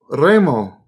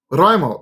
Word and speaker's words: Raimo: Remo. Raimo. I almost said it wrong again.